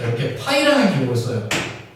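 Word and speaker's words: Π: 자, 중복 순열은 이제 어떻게 표현을 하면은 자, 이렇게 파이라는 기호를 써요. 이거 이제 파이라고 읽어요. 파이.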